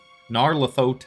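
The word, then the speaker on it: Nyarlathotep: Actually, it's supposed to be I think Narle Naro Narlethoteep. I think it's supposed to be like more of a Egyptian accent on the Hotep.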